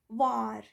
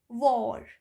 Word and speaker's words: war: So we should remember that whenever W comes before AR, it gives or sound, or, but in general, it gives R sound, R.